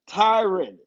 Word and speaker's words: Tyron: lying to byron tyrion it rhymes byron tyron they mess it up